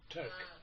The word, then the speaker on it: Toke: Tayouk is how you pronounce it? Yeah. Toke. Toke. Toke. Yeah. Like T-O-K-E.